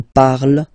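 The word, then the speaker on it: parlent: And the last one, so even if you've got this E-N-T, well, don't hate me, but you won't pronounce these letters, okay? You have to write them for the plural form, but you don't pronounce them, so you get il parle, elle parle.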